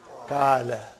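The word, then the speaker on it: قال: In between there is an alif, and there is no vowel sign. How will you pronounce this? Kala.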